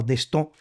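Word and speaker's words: Destot: De sto es un médico francés escrito de Stot, pronunciado de Stó, eh que habría descrito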